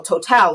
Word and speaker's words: Total: oh yeah oh exxon total i told well total is how it's pronounced in mozambique has a huge uh uh